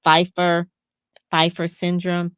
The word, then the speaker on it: Pfeiffer syndrome: the disease and you may know I can't pronounce it is Pfeiffer Pfeiffer syndrome p f e i F Pfeiffer Pfeiffer syndrome